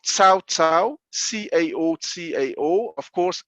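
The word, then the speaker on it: Cao Cao: the biggest kingdom called sao tsao c-a-o-c-a-o of course it's two different chinese characters pronounced differently but in english it's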